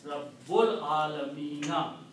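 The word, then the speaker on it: رب العالمين: Al Alamina will be pronounced as Rabbul Alamina.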